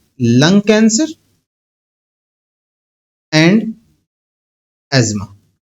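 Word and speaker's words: asthma: एस्थेमा नहीं कहते बेटा एज्मा प्रोनाउंस करते हैं। एज्मा। ठीक है? मैं कोई बर्गर बनने की कोशिश नहीं कर रहा हूं। लेकिन इसको मेडिकल वर्ल्ड में एज्मा ही कहते हैं।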